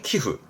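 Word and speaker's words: 寄付: 예, 단체 기부하는 키후. 요거는 첨자입니다. 이게 뭔가를 첨부하죠. 템프. 아시죠? 응 때문에 발음 바뀝니다.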